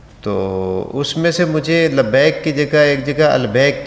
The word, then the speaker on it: لبیک: جاتی ہے لوگوں کی، یہاں البیک کی طرف ذہن اتنا ہوتا ہے کہ لبیک کی بجائے البیک کہتے ہیں۔ تو لہٰذا اس فکرے